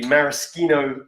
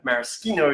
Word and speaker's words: maraschino: these this is a maraschino cherry which I've been reliably informed maraschino is the right way to pronounce it even though I've been calling maraschino for years but maraschino cherry I'm